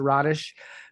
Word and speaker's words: Rodish: It's Rodish. It is Rodish.